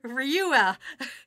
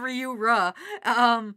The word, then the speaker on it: Ryura: I was always like Ryua instead of Ryura.